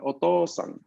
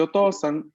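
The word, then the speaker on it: おとうさん: La O va a ser pronunciada larga, mientras que la U es inexistente. Entonces está ahí solo para indicarme que la O es larga. Por ejemplo, en la palabra otosan.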